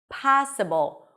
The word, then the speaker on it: possible: Would it be possible? This word is stressed. Possible.